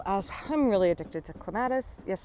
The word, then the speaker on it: clematis: I'm really addicted to clematis. Yes, I'm an American and I say clematis, even though clematis is the proper way to say it.